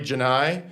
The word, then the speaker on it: Genei: Sorry if I pronounced your last names wrong. Kelly, Genei.